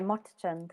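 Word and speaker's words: Motichand: I mean, yeah, Motachand is how I would say it. Motichan.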